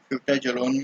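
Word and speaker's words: Fouta Djallon: इसमें जो डी होगा वो आपका साइलेंट होता है फ्यूटाजोलोन में, फ्यूटाजोलोन।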